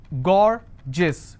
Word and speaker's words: gorgeous: For example, I have a word gorgeous. So gorgeous, 2 syllable, I will stress on gore.